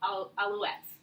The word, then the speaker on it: Alouettes: is back with the Montreal Alouettes. Did I say it right? French major. You did great.